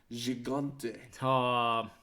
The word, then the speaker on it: Gigante: And then all 6 men climb into the ring, but the Horsemen clear it when Gigante Going hard G.